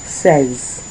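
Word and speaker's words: seize: five sank so make sure that was your pronunciation sank next we have 16 says.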